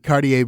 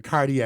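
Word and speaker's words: Kardea: uh cardia Brown Card cardier Brown sorry cardier I always say it wrong cuz cardier I'm like it's not cardier it is cardier it is cardier so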